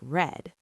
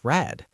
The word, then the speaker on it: read: R E A D is past too, but we pronounce it like red. Oh, so I read books right now, but I read a novel last week pronounced red.